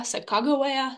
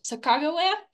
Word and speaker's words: Sacagawea: Sacajawea, Sacagawea, Sacacawea.